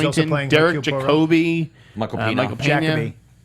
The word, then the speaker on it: Jacobi: Jacobi, Michael Pena. Michael Pena. Jacoby. Huh? Jacoby. Jacobi.